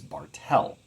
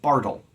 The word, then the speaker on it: Bartel: two unstressed syllables a my last name is Bartel lots of people like to pronounce it Bartle but that's not my name you might say well